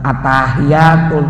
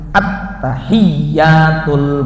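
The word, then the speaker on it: التحيات: Jangan membaca begini, atahiyatul naunu atah. Bukan atahiyatul tapi at-tahiyyatul mubarakatus shalawatut thayyibah.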